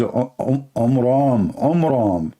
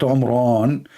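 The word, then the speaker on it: Amram: So it's the father of Moses, his name is Omram, not Omran. So he changed the last letter with letter N instead of M, which means it used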